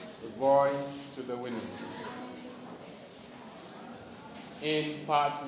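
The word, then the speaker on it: Houyhnhnms: It is spelled H-O-U-Y H-N-H-N-M-S. Winhams. The voyage to the Winhams.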